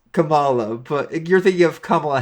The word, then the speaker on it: Kamala: I'm saying wrong as per the dad it's Camala but you're thinking of Kamala Harris okay listen